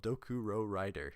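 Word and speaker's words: Dokurorider: dokuro toku row rider revival of dokuro rider i said it right the first time ritual spell this card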